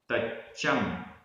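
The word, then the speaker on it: तच्चं: सगयम, सगयम, तच्चम, आधा चा पूरा चा, तच्चम।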